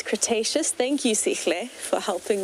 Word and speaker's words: Cretaceous: But Sikle is saying it's Cretaceous. Thank you, Sikle, for helping me pronounce that.